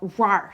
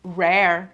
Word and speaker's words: Rare: I understand my English and uh I would want to think that it is pronounced rare which is also kind of